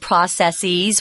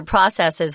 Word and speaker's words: processes: Tom, when you read the article, you said processes with an E, a long E sound. I did. But you'll also hear processes, which you just did as well. So they're both correct.